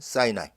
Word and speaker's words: Sinai: 여기 현장이죠 엘린과 자이 단어도 영어발음은 사이나이 요즘에는 이집트 옆에 있는